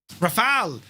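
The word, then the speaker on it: Rafale: What do the French What do the French people pronounce it by? F22 Raptor. Easily the best, says Adam Jacob. I mean, maybe. Rafal. The French call it Rafal, do they?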